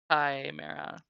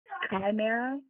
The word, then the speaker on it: Chimera: Chimera. Chimera? Even though it has an That's H the in there, the Chesmire. H is silent.